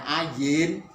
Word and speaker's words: ayin: Tapi kalau tidak ada pakai apa-apa seperti ini, namanya ayin, bukan A. Huruf silent ini.